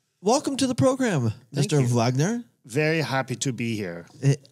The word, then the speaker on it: Wagener: Siri always has a wonderful time pronouncing your name when I tell her to call Brent Wagener. Wagner. Yes. She because it's spelled German.